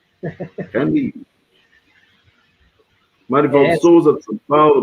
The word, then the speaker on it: Camus: E Barrabás diz, fiquei sabendo hoje que Camus pronuncia Camus. Camus.